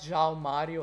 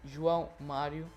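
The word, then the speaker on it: João Mário: have soooo Mario and it's not John Mario ok I know it's hard to pronounce but now you know it's drunk Mario and I gotta say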